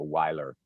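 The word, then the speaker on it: Wiler: called wheeler noriega rodriguez wheeler is spelled w-i-l-e-r so weiler noriega n-o-r-i-e-g-a and rodriguez just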